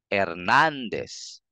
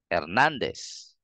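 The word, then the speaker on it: Hernández: pantay-pantay lang din sila so para mapalitaw mo yung emphasis bigkasin mo ng mas madiin or mas malakas ng konti yung syllable na nandon yung tilde so you can say Hernandez Hernandez Hernandez hinaan mo lang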